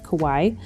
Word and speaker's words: kawaii: because in my head i was always reading it as kawaii but kawaii is the correct pronunciation but i love doing